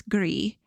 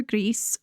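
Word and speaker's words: Gris: that in French it's gree but I think the game's developers speak Spanish so they intended it to be pronounced gree which means gray in Spanish Greece G Greece gree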